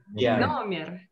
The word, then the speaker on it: номер: How do we pronounce this word? Номер. Номер. Не хомер, номер.